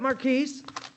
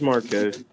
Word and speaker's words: Marquez: ragster marquise yes ma'am do you say it marquise no it's marquez i'm i'm sorry i was saying it wrong mr marquez ragster i've